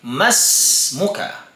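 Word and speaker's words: ما اسمك: So, kung walang ma, sasabihin natin ismuka. Pero kung may nauna sa kanya, magiging silent na po itong Hamzatul Wasli. Kahit lagyan po natin siya ng kasra. So, ang tamang pagbigkas po sa kanya ay mas muka.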